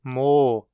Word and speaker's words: mol: O L em mo não é pronunciado pela maioria dos falantes, ou seja, ouve-se mo em vez de mol.